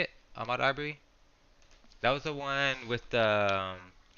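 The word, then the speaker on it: Ahmaud Arbery: That's how you say it, Ahmad Arbery.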